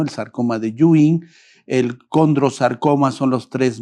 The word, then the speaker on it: Ewing: osteosarcoma, el sarcoma deing que se escribe ewing, pero por pronunciación un poquito los oncólogos lo pronunciamos como en el el original, ¿no? El sarcoma de Yuin, el condarcoma son los